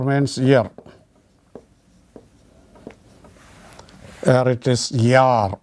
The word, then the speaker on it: Jahr: Here it is Jahr. Pronunciation is Jahr. H is not pronounced because it comes in the middle.